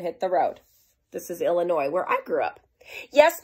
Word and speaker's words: Illinois: the road this is Illinois where I grew up yes my name is Illinois and I need an airline ticket too well Illinois nope the S is silent protip don't say Illinois's it's Illinois see these